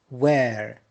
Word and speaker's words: where: Where. Notice here H is silent.